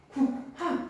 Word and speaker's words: 국화: 어떻게 발음돼? 국화. 국화. 불편하지? 그래서 어떻게? 국화 합쳐버리는.